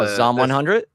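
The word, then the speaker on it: Zom 100: promise let's see and then how do you pronounce that show that we were both talking about the the zombie one oh zomb 100 zomb 100 okay I wasn't sure if it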